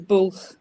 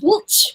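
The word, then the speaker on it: Bwlch: That one's called the Bulch, which I thought you might have trouble pronouncing. Yeah, I was calling it the Butch.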